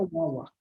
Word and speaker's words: Guaguá: Escreve Guaguá, mas se pronuncia Uaua.